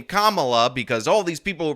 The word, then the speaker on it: Kamala: let's let's um Kamala and I'm calling you Kamala cuz for all of those who are mispronouncing it I want you all to know